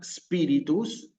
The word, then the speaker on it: spiritus: Nosotros, para pronunciar correctamente aquí esta palabra, tenemos que iniciar a hacer un esfuerzo por iniciar con la letra S. ¿Sí? ¿Ok? Esta palabra spiritus, naturalmente, tiene que ver